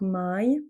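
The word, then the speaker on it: mãe: Par exemple, avec I, on va avoir par exemple my. Ici, ça va être my. Le e à la fin provoque ce son i plutôt i en fait. Donc my pour dire maman.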